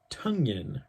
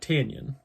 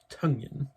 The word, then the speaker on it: Tonyan: rodgers to rob it robert tonyan rhymes with fungien not tanyan tonyan uh hope i rely